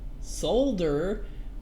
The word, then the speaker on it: solder: door helps me out you'll pronounce the L in solder when they pronounce the first l in colonal yes it was colonal